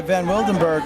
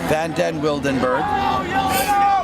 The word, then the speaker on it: Van den Wildenberg: and picked up by Van Wildenberg. Van den Wildenberg. Get it right, it's the longest name in the tournament. Gotta keep every syllable in there.